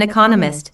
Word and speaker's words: economist: so it is emphasized there are four syllables in Economist with the stress on the second syllable economist he just finished writing